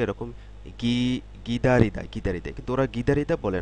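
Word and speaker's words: 기다리다: এর মূল উচ্চারণটা এরকম গিদারিদা গিদারিদা কিন্তু ওরা গিদারিদা বলে না ওরা বলতে বলতে আসলে এটা বলতে বলতে জিনিসটা এরকম হয়ে গেছে গিদারিদা না বলে ওরা বলে খিদারিদা টু ওয়েট অর্থাৎ অপেক্ষা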